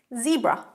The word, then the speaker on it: zebra: Zebra. Zebra. In American English, it's Z, but in British English, it's Z.